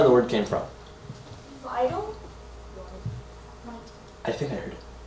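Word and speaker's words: witte: Because the W is pronounced with a V sound.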